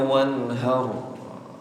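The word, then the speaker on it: وانحر: Bukan pakai H kecil tapi dipakai apa? H besar. Fasolli lirabbika wanhar. Ini bahaya.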